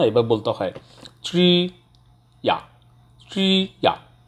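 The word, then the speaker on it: 职业: Tree আ, tree আ, tree আ অর্থাৎ এখানে চয়রা ফল, actually চয়রা ফলটা ওভাবে উচ্চারণ হয় না, এবার বলতে হয় ট্রি ইয়া, ট্রি ইয়া, ই আ, ট্রি আ।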